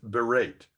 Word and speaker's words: berate: another example down here berate the a is long because there's a vow followed by a consonant followed by another vow so it becomes berate and yet the e